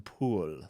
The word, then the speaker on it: Powell: But people like Jonathan Powell, or I'm sure he would probably say Jonathan Poole, that's how he'd pronounce it, to give you an idea of the character.